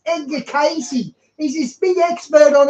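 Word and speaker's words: Edgar Cayce: another guy who channeled it's not Edgar Stacy it's Ed de casy he's this big expert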